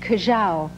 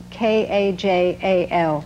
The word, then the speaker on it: kajal: the inside of my eyes, which is called kajal. I'll spell it for you. K-A-J-A-L.